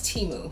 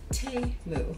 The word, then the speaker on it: Temu: and I realized that the pronunciation is T moo like t e h moo so in case you've